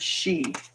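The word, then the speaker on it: sidhe: asade oh my gosh the acide pronounced she um she is let's see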